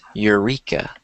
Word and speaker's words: Eureka: Eureka Eureka Eureka here pretend like the e isn't there and then it would be pronounced like this Eureka ah Eureka there you